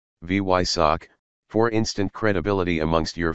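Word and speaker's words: Weissach: Porsche's Fame test center say it like this V yck for instant credibility amongst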